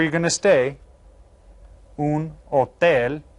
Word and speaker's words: hotel: Un hotel. Remember, you don't pronounce the H.